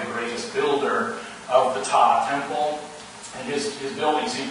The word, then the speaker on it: Ptah: a god named Ptah, spelled P-T-A-H. The P is a silent one, just like in pterodactyl. So we call him Ptah, but it's spelled Ptah.